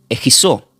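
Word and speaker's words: ἐγγίζω: palabra acercado del griego se pronuncia como egizó. Lleva dos g de gato, e, dos g, la i, la z y la o.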